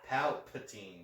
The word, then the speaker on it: Palpatine: Palpatine. I hate that your speech impediment... How do you say it? Like... Palpatine. Like heart palpitations.